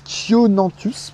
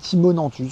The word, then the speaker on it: Chionanthus: J'arrive jamais à prononcer le Chionanthus, parce que j'ai toujours envie de l'appeler Chimonanthus, je sais pas pourquoi.